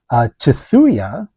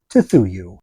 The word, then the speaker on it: Tthuy: So it's spelled Tthuy. T, te, Thu, that becomes thu. Y, just by itself, should get that vowel carried over. The U carried over to Y makes U, should be Tethuyu, but it didn't turn out that way.